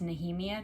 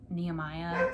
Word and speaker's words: Nehemia: these and like guys i know it's nahimia now not nehemiah so yeah manon is there